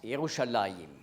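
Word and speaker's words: ירושלים: Le nom de la ville, en hébreu on prononce Yerushalayim, veut dire « ville de la paix ».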